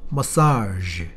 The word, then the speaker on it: massage: z 같은 발음이야. French 발음.